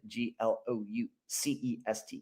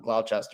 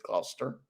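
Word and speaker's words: Gloucester: I think that's how you pronounce it. Glu ce. It's not Glchester, it's Glouester home at 6 p.m.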